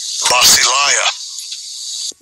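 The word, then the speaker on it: βασιλεία: Basileia. Basileia. Yeah, and that would be the pronunciation in the Greek for this word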